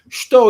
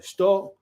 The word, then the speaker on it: shuto: Okay, so Shuto, Sakotsu Uchi, 1. Also, in terms of pronunciation, I know I don't want to harp on Japanese, but the U in Shuto is often silent in Japanese.